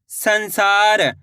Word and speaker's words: संसार: सामान में अनुस्वार की मात्रा सन। स में आ की मात्रा सा र। तो मिलकर बन जाएगा संसार।